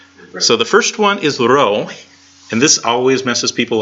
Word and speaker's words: rho: The first one is rho, with a long O sound.